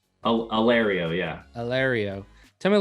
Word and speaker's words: Allerio: Allerio? Allerio, yeah.